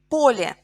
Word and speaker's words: поле: Море, O is stressed in singular. Моря, я is stressed in plural. Море, моря. Поле, a field.